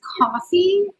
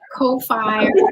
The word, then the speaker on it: Ko-fi: Amy says it's pronounced it rhymes with no fee. But like but Amy, their logo is a coffee cup. So don't you think it's coffee?